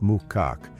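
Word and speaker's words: macaque: Yasunaga said it's not uncommon for some Japanese macaks, pronounced Mukak, to abandon their babies for a number of reasons.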